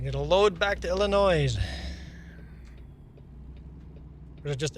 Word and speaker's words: Illinois: We get a load back to Illinois or is it just Illinois? You skip you drop the S at the end. You say Illinois.